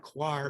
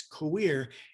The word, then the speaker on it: coir: that's the correct pronunciation some people call it choir but the right name is queer it's basically that the